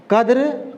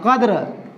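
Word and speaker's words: قدر: बस यूँ जानना पड़ेगा, कद्र, कद्र, कद्र नहीं कहते हैं, यहाँ से नहीं बोलते हैं, ऊपर से नहीं बोलते हैं, कद्र यहाँ से निकालते हैं, है ना। काफ का उच्चारण तलफ़ुज़ हम लोग यहाँ से निकालते हैं, कद्र, क, ठीक है ना।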